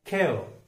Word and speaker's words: care: CARE केयर बोलते हैं हम गलती से, लेकिन उसका सही उच्चारण है खेव।